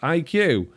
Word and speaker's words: Acqui: So, by the way, Acqui is pronounced IQ. For everyone, but everyone gets it wrong.